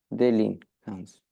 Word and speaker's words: délinquance: Déli- Délinquance. Délinquance. Est-ce que tu es sûr? Oui, délinquance. Oui, Tu as le délinquance. IN qui est là et du coup, ça fait délinquance.